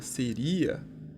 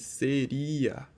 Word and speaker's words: seria: seria pode ver que tem uma diferença na nossa pro o a ele é pronunciado com mais intensidade o tanto I quanto o a nessa palavra pronunciado com mais intensidade do que na palavra anterior a gente disse séria A gente diz seria então a gente consegue ver que tem um hiato ali tem duas vogais na palavra seria né